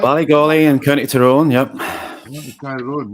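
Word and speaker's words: Ballygawley: Ballygolly in County Tyrone, yep.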